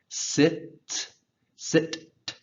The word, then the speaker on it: sits: Sit, sit, s. Make sure you get that TS sound.